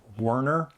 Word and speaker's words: Werner: a little research because some people pronounce wner and some people uh say verer I actually think that's the correct uh German pronunciation but I could be wrong and probably only verer knows I'm going to pronounce it verer CU I think it sounds cool but maybe I'm wrong and if I am I'm sorry in advance who is verer Herzog